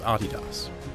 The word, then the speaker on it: Adidas: And by the way, that is indeed how you pronounce Adidas.